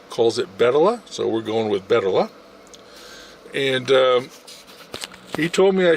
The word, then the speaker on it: Bettola: When I look at it, would pronounce it Bettola, and the girl told me almost everyone pronounces it Bettola, but the owner calls it Bettola, so we're going with Bettola.